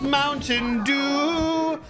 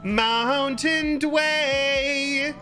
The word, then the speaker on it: Mountain Dew: It is not actually pronounced Mountain Dew. No matter what the commercials be telling you, it is actually Mountain Dway.